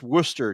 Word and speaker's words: Worcester: MX Stilgar shows up and says, Worcester, Mass is pronounced Worcester.